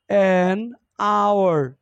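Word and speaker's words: hour: honourable honourable person honourable person এটা সরের মত উচ্চারণ হওয়ার কারণে এন হয়েছে চার নাম্বার হি হ্যাজ এন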